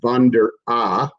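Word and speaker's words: Von der Ahe: of Major League Baseball, Chris Von der A, or Von D, or Von der A, depending on how you want to pronounce it.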